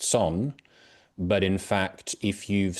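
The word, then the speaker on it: Сон: project, which is pronounced Son, but in fact, if you've seen it written down, you might have thought that it was Co, because it looks like a COH, but it's actually in Cyrillic, being Russian, in fact.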